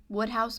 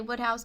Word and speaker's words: Wodehouse: 12 is where I put the Wodehouse books. It feels so weird for me to say Wodehouse, but I believe you guys who were telling